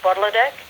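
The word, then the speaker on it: Potlotek: It's in Mi'kmaq, it's pronounced Budladek.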